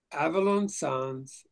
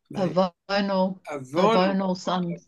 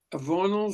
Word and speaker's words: Avonal: Avalon Sons. Avonal Sons. Avonal, thank you. Gosh, I'm so grateful for you guys teaching me some pronunciation here. Avonal Sons may act as planetary judges prior to